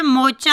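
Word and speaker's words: moocher: मुफ्तखोर को इंग्लिश में बोलेंगे मोचा. आर साइलेंट होगा. मोचा.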